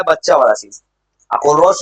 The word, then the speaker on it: Kohlrausch: अब छोटा सा लॉ है जो फेमस है, कोलरोच लॉ। उसका एक स्टेटमेंट है, उसपे वो थोड़ा मोड़ा कुछ सवाल बन जाता है। सवाल बनता कैसे है, फॉर्मूलाज को मिलाने पे। कोलरोच लॉ है बच्चा वाला चीज। कोलरोच लॉ होता क्या है ना, ओनली को तुम